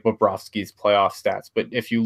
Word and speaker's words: Bobrovsky: And I don't really, when you look at, I know a lot of people will bring up like Bobrovsky's playoff stats.